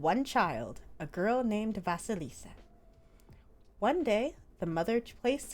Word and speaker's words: Vasilisa: that i was sent no vasalisa let me make sure i'm pronouncing the name correctly okay vasilisa that's her name but i could read